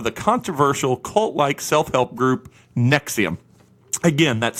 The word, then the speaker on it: NXIVM: to pronounce this, but NXIVM, it's Nexium is what they call it.